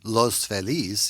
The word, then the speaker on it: Los Feliz: kind of near hollywood which is the way we say los feliz here in los angeles for reasons that i'm not sure of but you know anglicanized pronunciation i mean it's not los angeles either